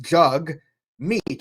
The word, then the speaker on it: Jagmeet: this is Twitter page you could see it's pronounced jug meat let jum rides with